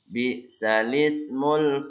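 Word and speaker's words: بئس الاسم: Bisalismul fusuq. Bisal ismu bacanya bisalismu.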